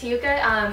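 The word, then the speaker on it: Hyouka: But I had to go with Hyuka. I'm pretty sure that's how you pronounce that. Hyouke or Ka. It's Hyuka.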